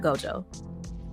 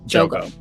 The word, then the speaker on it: Jogo: Is it not Gojo? Jogo. Jogo. Right, it's like dyslexia and it's only 2 syllables, but yeah, so I mean, it was cool to see him.